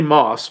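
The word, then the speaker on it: Motss: Hoffman who plays Stanley Moss by the way an Moss's name is spelled m o TSS but the t is silent I don't know why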